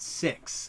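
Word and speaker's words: Sicks: Dallas are the Wyatt 6 and it's spelled SI i c KS like sick like you're sick but it has an S it's kind of a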